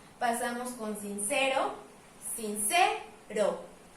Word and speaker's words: sincero: Pasamos con sincero, sincero. Puedo identificar que acá se oye más fuerte, entonces también entra en la clasificación de palabra grave y esto no afecta a la métrica.